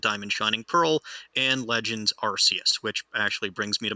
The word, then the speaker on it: Arceus: my first point is i will still pronounce it rcs and i will probably die on that hill for whatever ungodly reason you are well within your right to pronounce it incorrectly ah but dr gregory house pronounces it arceus and he is the